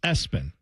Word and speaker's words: ESPN: And when I say that, I mean ESPN spelled out pronounced espen.